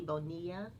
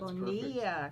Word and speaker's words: Bonilla: Eddie Bonilla. Did I say it right? That's Bonilla. perfect. Who is Eddie Bonilla Sr., who is the vice president of Lennding.